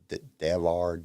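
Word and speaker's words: Devar: shamila denver i think i think that's how you say it's d-e-v-a-r so it's davar delar she voiced ursula wren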